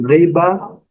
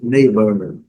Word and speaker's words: neighbor: No inglês britânico, neighbor, e no inglês americano, neighbor. Neighbor. Primeira sílaba é a sílaba forte.